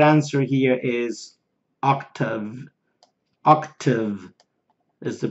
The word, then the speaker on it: OCTAVE: Octave is the pronunciation.